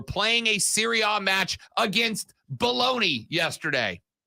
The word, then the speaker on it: Bologna: a Syria match against bologna yesterday it's absolutely belong now but it's spelled b-o-l-o-g-n-a and Oscar Meyer has